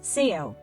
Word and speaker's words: Seo: It's written as small knight and pronounced as Seo.